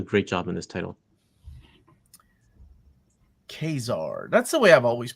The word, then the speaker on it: Ka-Zar: Well, if you go by the pronunciation that Stanley wrote right on the cover of whatever that first appearance is in X-Men, it's Ka-Zar. Ka-Zar. But like quesadilla.